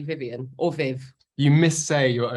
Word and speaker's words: Vivienne: How you pronounce it? It's actually Vivienne. Right. But I suppose maybe you could say Vivienne because a lot of people do, but I say Vivienne or Viv.